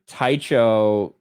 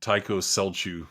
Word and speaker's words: Tycho Celchu: to when i first saw that word i pronounced it uh taicho uh like kelsu or something like i pronounced